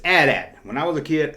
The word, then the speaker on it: AT-AT: But it's AT-AT. When I was a kid, it's always AT-AT.